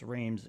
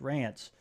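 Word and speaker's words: Reims: The Allied headquarters in res pronounced reams in English rants uh in French uh German formerly surrendered to the European portion of the World War II.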